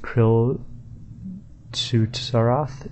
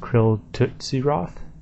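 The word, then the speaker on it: Kril Tsutsaroth: Zam God Wars boss Krill taroth is pronounced Krill tootsy Roth that I don't know it sounds like tootsy Roll But tootsy Roth I'm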